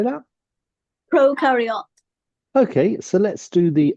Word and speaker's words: prokaryote: is pro pro par actually it's karot Pro carot proar how do they say Pro carot Pro carot yeah Pro carot sort of thing yes Pro carot all